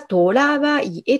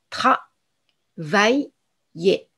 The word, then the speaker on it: travailler: けれども、これはトラバイエというふうに発音